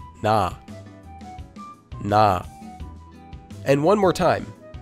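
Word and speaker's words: ㄴ: If we combine it with our vowel ah, we can hear that this letter would become na.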